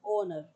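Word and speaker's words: honour: यहाँ क्या आएगा, एन ऑनर, ठीक है। इस तरह से आप देखेंगे इसको। एक्सप्लेनेशन देख लीजिए, मैंने आपको बता दी है, एच इज साइलेंट तो वोवल साउंड आ रहा है, तो इसलिए यहाँ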